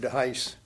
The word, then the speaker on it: De Heus: So the Dutch pronounce it either way. And either way would be correct. In fact, I have some relatives in Iowa pronounce it De Heus.